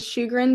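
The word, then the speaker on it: Sjogren: kid in my class his last name is shugan but it's spelled SJ o g r n that's phen that's great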